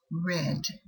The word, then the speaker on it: read: bled lead red yes this verb is spelled the same looks the same but past tense is pronounced red let's see this in